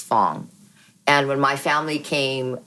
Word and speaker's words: Phoong: an F right but we actually do pronounce our last name as Fong and when my family